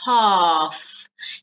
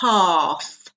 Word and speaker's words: half: half notice the pronunciation we don't pronounce the L it's a long a so it's half here you can see that the two dots that means it's a long sound half no health no half